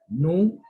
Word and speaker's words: nous: Nous, we say nous. S is silent.